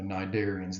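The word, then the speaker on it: Cnidarian: these are the narian the sea is is silent in how we pronounce this term the narian they are radially symmetrical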